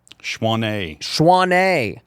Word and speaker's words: Choisnet: Choisnet. Dude, I cannot believe that that's how it's pronounced.